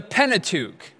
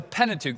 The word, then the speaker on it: Pentateuch: And the Pentateuch, the first five books, the Pentateuch, that's the Greek word for it. Penta meaning five, and what we pronounce as tuch meaning scroll.